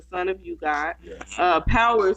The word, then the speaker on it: Pxwer: Power spelled with an X, PXWER, is the son of Method Man.